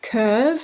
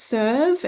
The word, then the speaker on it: CERV: So yes, it's pronounced curve, not serve.